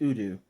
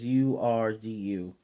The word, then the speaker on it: Urdu: And he's reading in it's pronounced Urdu, but it's Urdu.